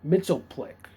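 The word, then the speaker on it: Mxyzptlk: Brainiac and um um mitop Plick that's how you say his name mitop is probably Superman's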